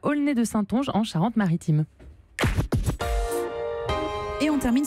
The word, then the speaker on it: Aulnay-de-Saintonge: Alors, comment on prononce ? Aulnay de Saintonge, en Charente-Maritime.